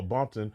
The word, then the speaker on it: Bumpton: That's what Pyrus or Bloods call Bumpton. It's originally called Compton, but they pronounce it with a B to avoid using the C word.